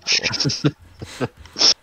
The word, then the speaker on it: Snubbull: Snubble. That's how it's pronounced.